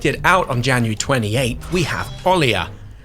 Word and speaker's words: Olija: Up next, expected to come out January 28th we have Olija (pronounced o – lee – ya) and while it’s published